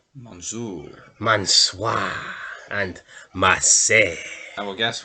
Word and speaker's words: Mansoor: Yeah, Monsieur. Yeah, but no, that's not his name. Monsieur. Say it right. Mansoor.